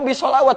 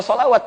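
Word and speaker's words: Shalawat: pakai ilmu cara membacanya ada orang yang pahamnya Oh belawat begitu naik Harus baca shelawat bukan ya belawat itu jamak dari kata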